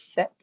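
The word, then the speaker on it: sept: This is set. You completely missed the P. P silent set.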